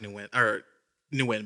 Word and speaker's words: Nguyen: that to myself secretly, but it's Win. And it came out loud. It did. You actually projected that. I know it's Win, but I just like Nguyen better. It's crazy how that's spelled.